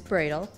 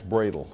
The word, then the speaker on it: Brödel: years I want to tell you about Max bradel and it's pronounced bradel M uml over the O uh he was